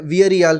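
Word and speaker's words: Villarreal: Plus जब हम विलेरियल के अगेंस्ट खेले हैं, वियरियल बेसिकली उनको प्रोनाउंस वैसे ही किया जाता है, उनके अगेंस्ट भी खेले हैं तो हम उनको डोमिनेट नहीं कर पाए हैं.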